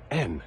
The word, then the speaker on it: and: It's just the sound of the letter N.